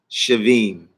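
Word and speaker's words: שבעים: So the numerical value for the Ayin, 70, would be pronounced Shavim.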